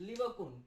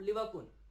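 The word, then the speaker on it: Lieberkühn: है, ठीक है, वो कहलाता है क्रिप्स ऑफ लिवरकुन। ये प्रेजेंट कहां पर है भाई, विलाई के बेस में, स्मॉल इंटेस्टाइन के अंदर, और इसको क्या कहते हैं, क्रिप्स ऑफ लिवरकुन, ठीक है।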